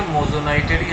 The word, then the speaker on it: moissanite: refractive index ডায়মন্ডের থেকে মোজনাইটেরই আছে ইট ইজ প্রোনাউন্সিয়েশন লাইক মোজনাইট তো এই কোশ্চেনের আনসার